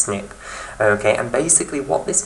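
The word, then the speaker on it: SNP: polymorphism or a snip it's pronounced snip okay and basically what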